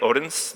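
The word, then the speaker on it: Odense: He told me, I believe it's Odin's, right? Odin's, the E is silent, kind of helped me with my pronunciation.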